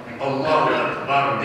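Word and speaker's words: أكبر: Allahu Ekber diye okunur. Bitmedi. Cevheretün Neyhire. Evet. Alâ Muhtasar-ı Kuduni. Birinci cilt 52 sayfa. Evet. Yüzzemür râbu min akbar. Allahu Ekber cümlesinin Ekber kelimesinin râ harfi cezm olunur.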